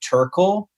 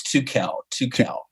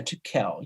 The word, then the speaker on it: Tukel: many people pronounce it Turkel or Turkel. They think there's an R there, and it's Tukel. Tukel with the accent over the E. Yeah, Tukel.